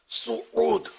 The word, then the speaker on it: سعود: یہ سعود لفظ تلفظ غلط ہے، سین پر پیش آتا ہے سعود، جیسے سعودی عرب ہے نا بولتے ہیں نا، تو یہ سین پر پیش ہے سعود.